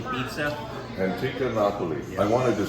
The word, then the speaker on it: Antica Napoli: It's called Antica Napoli Pizza. Antica Napoli.